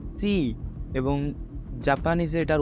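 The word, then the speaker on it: 四: বা জাপানিজে উচ্চারণ করবেন চাইনিজে এটার উচ্চারণ হবে সি এবং জাপানিজে এটার উচ্চারণ হবে সি যেটার অর্থ হচ্ছে মৃত্যু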